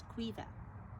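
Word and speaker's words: Caoimhe: not well the female version of it is cuiva how do you spell that c-a-o-i-n-b-h-e that's the irish first she's like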